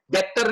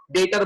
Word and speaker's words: debtor: डेटर creditor, डेटर creditor, ये जो बी है ना, बी साइलेंट है, डेप्टर नहीं बोलते उसको हम, डेप्टर नहीं बोलते, क्या बोलते हैं इसको हम? डेटर बोलते, ठीक है? DEBTOR, उसको डेटर बोला जाता है, क्या बोला जाता है?